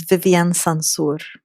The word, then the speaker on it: Vivien Sansour: your name and your pronounce my name is Vivian sansur my pronounce is Eagle hawk owl that actually perfectly